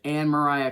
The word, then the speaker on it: Anne Maria: Her name is spelled like Anne Maria, but it's pronounced Anne Mariah Claypool, who were settlers